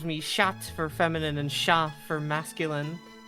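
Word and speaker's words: chat: That that is how you would pronounce sha in you don't pronounce the like hard syllables of the last letters in French. Yeah. So it would be sha.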